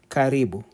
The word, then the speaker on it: karibu: Welcome is karibu.